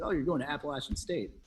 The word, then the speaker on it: Appalachian: so forth you went on he said to appalachian state and then thanks for saying it right